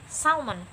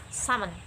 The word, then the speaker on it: salmon: not pronouncing that like salmon i'm just pronouncing that salmon cut l off okay let's move on